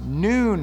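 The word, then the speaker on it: נון: 14th letter and you that's actually pronounced noon which is like the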